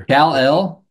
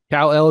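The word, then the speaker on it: Kel'el: I think Khalil Ware is going to be another Kal-El. Cal L is how you say it.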